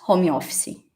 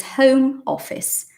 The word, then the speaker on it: Home Office: because first of all the pronunciation is not homeopathy it's just not it's Home Office and that is a fact that is a fact because it's not Portuguese it is English so respect that fact